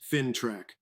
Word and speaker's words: FINTRAC: These protections are being backed up by the financial intelligence agency FinTrack, pronounced FinTrack, which is providing banks with what they call targeted indicator profiles.